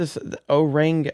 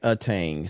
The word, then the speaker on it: Aang: higher that's so what see if I would oang Aang see if it spelled like that I would have said it the